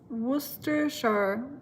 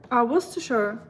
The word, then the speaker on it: Worcestershire: Worcestershire, let me help you pronounce it like Worcestershire. Worcestershire.